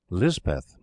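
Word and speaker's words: Lispeth: Garth chaplain christen er Elizabeth and Lizbeth is the hill or Pahari pronunciation later cholera came into the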